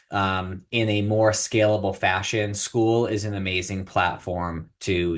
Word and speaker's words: Skool: So what we had done is we ended up launching a community on a platform called School, and that is spelled SKOOL on School.